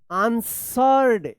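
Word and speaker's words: answered: अ few minutes and आंसर्ड यहां पे डब्ल्यू जो है ना साइलेंट है आंसर्ड आंसर में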